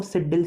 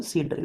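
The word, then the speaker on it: seed drill: लोग देसी हैं तो गांव में इसको सिड्डिल सिड्डिल चिल्लाते रहते हैं। ये वही सीड ड्रिल मेथड है, actual pronunciation is अ सीड ड्रिल।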